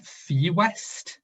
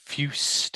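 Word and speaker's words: Fuest: It's Robert Fewest, F-U-E-S-T. Yeah, Fust. I think, I'm not sure.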